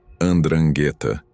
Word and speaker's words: 'Ndrangheta: Você pronuncia a palavra como 'Ndrangheta, e ela vem de uma palavra grega que significa heróico ou corajoso.